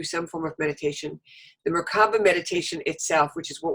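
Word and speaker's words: Merkaba: Merkava.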